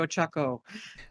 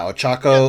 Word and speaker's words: Ochaco: nutshell and i think i just mispronounced her name with those pizza i think it's supposed to be ochaco uh yeah ochako or haka or yeah